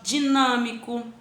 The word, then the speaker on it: dinâmico: Disposta, não, déspota, monossílaba, fonética, sílaba, dinâmico, tá vendo? Aí na palavra dinâmico, eu tenho um acento circunflexo, olha o timbre fechado dele, ó, de nã, ele tem um som de an.